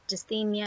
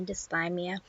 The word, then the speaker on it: dysthymia: about dysthymia I was pronouncing it wrong I pronounced to see Mia it's actually dysthymia and after I finished making the video I